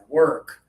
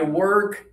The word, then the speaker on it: work: So that lips forward and open. Let me show the social media friends. Make sure you're doing this with your lips as you pronounce this word right here.